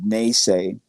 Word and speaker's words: Nese: The second one would be Nese, which is just 2 syllables of that name.